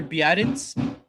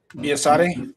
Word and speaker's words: Biadasz: Tyler Biadasz. Biasate? Yeah. Biasate, I think is how you say it.